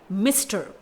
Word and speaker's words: Mr.: MR डॉट यहाँ पर एक एब्रीविएटेड टर्म है, इसे प्रोनाउंस किया जाता है मिस्टर, यानी इसे हम मिस्टर